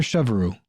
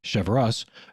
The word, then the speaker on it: Cheverus: chopping he went out and found a father chevroo excuse me cheverus doing the work that no neighbor would volunteer